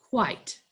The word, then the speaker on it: quite: But here you have, this was like quit, but had the E put on the end. And what we have is we have the silent E shooting its sparks over the T onto the I. And we're going to hear Mr. I there. So we still have the qua, I, t, quite.